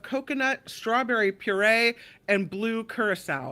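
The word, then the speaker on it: curaçao: It's solely strawberry vodka blended with pineapple juice, cream of coconut, strawberry puree, and blue curacao. Is that how you say that? Curacao is how you say it.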